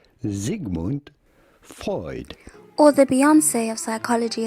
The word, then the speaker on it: Sigmund Freud: at how to pronounce in german his name would normally be pronounced sigmund freud sigmund freud or the beyonce of